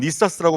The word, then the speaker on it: NESAS: 오늘 제가 말씀드릴 주제는 모바일 산업의 새로운 보안 기준 네사스인데 영어권에서는 니사스라고 발음을 하고 있습니다.